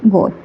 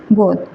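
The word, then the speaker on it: Goethe: Alexander pope, Johan Wolfgang गोथ। 189 का यहाँ पर आपका राइट आंसर डी होगा, जोहन वोल्फगैंग गोथ। इसको गेटे भी प्रोनाउंसिएशन करते हैं कई लोग, जो भी कीजिए आप, हम तो गोथ ही करते हैं, ठीक है।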